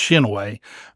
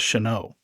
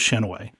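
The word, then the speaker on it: Chinoe: King so always have known it as Shinay it's Shinay but you have you will have people pronounce it as who aren't from Lex it and is Sho uh-huh I've heard all kinds of pronunciation uh I I would go with Shinay all right that's my official oldtime lexiton pronunciation we have it from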